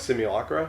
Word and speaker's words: simulacra: Oh, what, simulacra?